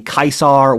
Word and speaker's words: Caesar: The Germans called themselves the Kaisar, which is the actually correct pronunciation for Caesar.